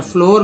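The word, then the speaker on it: floor: S double N सुन में ओ का उच्चारण ऊ के रूप में, फ्लड में डबल ओ का उच्चारण अ के रूप में, और फ्लोर में डबल ओ का उच्चारण ओ के रूप में, फ्लोर हो रहा है।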